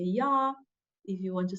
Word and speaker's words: ja: I'm gonna just repeat them so you know how to pronunciate. So if you want to say yes, you say ja.